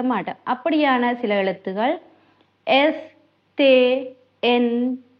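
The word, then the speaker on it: les: இப்ப உதாரணத்துக்கு பாருங்க தே என்று சொன்னா உங்களுக்கு தெரியும் இத நாங்க ப்ளூகியலுக்கு பாவிக்கிற நாங்க இதுல வந்து பின்னுக்கு இருக்கிற எஸ் வந்து நாங்க உச்சரிக்க மாட்டோம் தேஸ் என்று சொல்ல மாட்டோம். தே என்று மட்டும்தான் சொல்லுவோம்.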